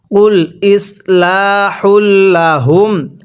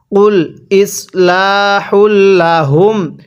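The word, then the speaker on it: قُلْ إِصْلَاحٌ لَّهُمْ: এই কফটা উচ্চারণের সময় গলার মধ্যে ধাক্কা দিয়ে পড়বেন। তাহলে পড়ুন। কুল ইসলাহুল্লাহুম। হ্যাঁ। পড়ুন। কুল ইসলাহুল্লাহুম। আরেকবার পড়ুন কুল ইসলাহুল্লাহুম এরপরে আমার সাথে পড়বেন অবশ্যই মুখে মুখে পড়ার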